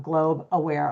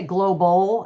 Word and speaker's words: Globe Aware: Spotify all that with globe aware a lot of people say global I think make it two syllables but it's just globe Awar.